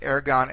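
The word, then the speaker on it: ἔργον: That's the word for work, ergon, ergu. Notice that the accent again stays on the first syllable all throughout the forms.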